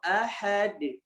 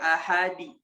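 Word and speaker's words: أحد: Qul huwallahu ahad. Ahad. Tentu ya mengkolkolahkannya juga tidak boleh sembarangan. Ya tidak boleh terpengaruhi dengan ahad atau enggak ahadi atau enggak ahada. Enggak boleh. Ya kembali kepada huruf aslinya.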